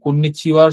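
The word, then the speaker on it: こんにちは: এখানেও আসলে একটু ব্যাখ্যা করার মতো জিনিস আছে। এটা হা, বাট কন্নিচিওয়ার সাথে এটা হাটা উচ্চারণ হবে ওয়া।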